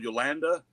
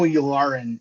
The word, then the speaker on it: Yularen: We see everyone rushing down the halls, and then we get to see, I might get the name wrong, but is it Admiral Yolanda? Colonel Yularen.